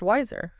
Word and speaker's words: WISR: of wiser all right that's w i Sr pronounced wiser pronounced wiser yes and their Innovative